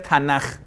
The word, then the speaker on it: Tanakh: Entonces va a ser Taura, Taura, Nabuim, Ne, y Ketubim, Te, Ne, Ke, Tanakh. Y que cuando ya está al final se pronuncia G. Entonces va a ser Tanaj.